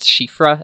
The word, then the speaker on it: Siofra: I think I've seen it pronounced Shifra as well, if you're getting into like Gaelic and Irish pronunciations, but I mean, Siofra is how I said it for a very long time.